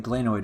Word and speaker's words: glenoid: The glenoid cavity, or glenoid, glenoid is the correct term, though, correct pronunciation as far as I know, medical term.